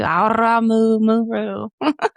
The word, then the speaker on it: Aramu Muru: You can roll your tongue too. Aramu Muru.